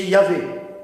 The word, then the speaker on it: Yahvé: Mais c'est que des consonnes, donc il est imprononçable. Mais quand on le prononce, si on essaye, c'est Yahvé.